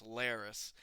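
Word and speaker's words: Larys: Sir Strong's other son, Laris. That's his name. I just thought like when I almost thought his name was Varys, like the spider Varys from Game of Thrones, but no, it's Laris.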